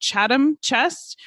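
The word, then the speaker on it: Chatham Chest: Additionally, just two years before we think Shakespeare wrote Richard III, the and I think I'm pronouncing this possibly wrongly, but Chadam Chest was established to pay pensions to disable men.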